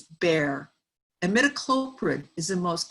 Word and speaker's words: Bayer: by michelle and bear it's not pronounced bayer in germany where the company is it's bare and midacloprid is the